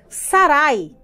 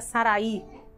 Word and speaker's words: Sarai: vezes retratam propósito emissão sarai na verdade a pronúncia certa seria saraí saraí era minha princesa significado